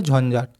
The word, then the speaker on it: ঝঞ্ঝাট: দেখো হাততালার ঝাতালার ঝাঁকা ট তাহলে কি হবে ঝাট এটা উচ্চারণ করলে হয়ে যাবে ঝঞ্ঝাট তো আরেকবার বলে দিচ্ছি